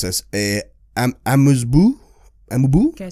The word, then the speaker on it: amuse-bouche: An hors d'oeuvres, I'm going to mispronounce this, a amuse-bouche.